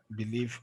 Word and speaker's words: believe: Believe, obviously it has to go there now.